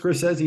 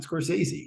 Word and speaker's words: Scorsese: directed by Martin scori it is pronounced sesi not scy I just watched him say it so I'm fairly sure that that's right uh yeah of course